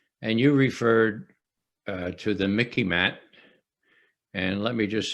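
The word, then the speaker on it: MICIMATT: The rest of the deep state, the rest of the Mickey Mat. So remember, it rhymes with Mickey Mouse.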